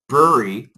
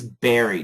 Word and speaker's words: bury: Now, some Americans do say bury. Some say berry. But the easiest pronunciation is berry, just like strawberry.